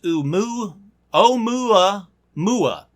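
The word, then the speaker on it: ʻOumuamua: alien explanation for Oh mal mal it's apparently pronounced o mu o mula mula but I like Kumail mal better so o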